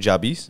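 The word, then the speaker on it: Nujabes: Nujabis?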